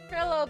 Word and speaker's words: Trilo: this his his name his name it's not pronounced tro it's pronounced trillo because triloquist like V triloquist so it's Ben